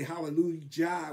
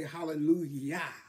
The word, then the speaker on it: hallelujah: Because the highest praise is hallelujah. And it's got a J there, but we do not say hallelujah. We say hallelujah. Yah.